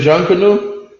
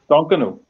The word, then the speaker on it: Junkanoo: Am I saying it right? Is it Jean Canoe? Junkanoo. That's All good.